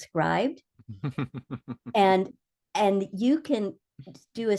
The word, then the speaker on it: Scribd: There's an website called, I've always called it Scribd, but somebody recently pointed out to me that it's probably pronounced scribed.